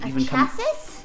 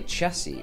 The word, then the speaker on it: chassis: It's got a special name, which is spelt like this, C-H-A-S-S-I-S. Have you even chassis? Americans say chassis, right? I think so. We say chassis.